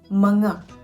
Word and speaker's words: mga: It is pronounced as mga.